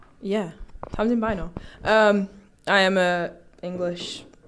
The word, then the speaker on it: Tamsin Bynoe: Tom's in by now. Yeah, times in bino.